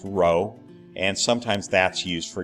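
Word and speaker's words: rho: greek letter it said row it looks like a scripted p but it's pronounced row and sometimes that's used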